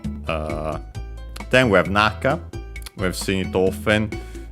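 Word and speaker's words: 中: Uh then we have naka. We have seen it often. Uh this one is the uh most typical one accented on well both are accented on the first syllable.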